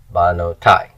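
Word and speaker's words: בְּנוֹתַי: Banotai. Accents on the end, that's the tonic syllable.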